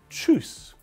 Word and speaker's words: Tschüss: Now Tschüss.